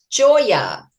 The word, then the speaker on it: Giora: Now, let me see if I get the pronunciation of, Giora. Joya. Joya. Like, all right, I blew it.